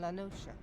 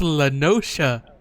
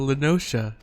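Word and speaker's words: La Noscea: south tidegate in western lanosha half stone it was called it's pronounced lenosha i thought it was a little scare well then all right it's called linosha some years prior to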